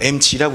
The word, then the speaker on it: MZ: 아니 이거 MZ라고 읽으시면 큰일 나는 겁니다. 여러분 몇 년 전부터 여러분 알파벳을 Z라고 읽지 않고요 MG라고 읽습니다. 그래서 제가 처음에 MZ라고 했다가 욕 겁나 먹었습니다.